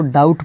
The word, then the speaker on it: doubt: पे DOUBT, यहाँ पे इसमें बी साइलेंट है। यहाँ पे हम लोग इसको डाउट पढ़ते हैं। यहाँ तो बी है लेकिन बी को इसमें पढ़ा नहीं जाता है, यहाँ पे डाउट पढ़ रहा है लोग।